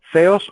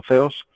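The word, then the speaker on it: θεός: Theos o theon, se pronuncia como que fuera una letra Z, ¿verdad? Como la TH inglesa, el theon o theos, es el Dios.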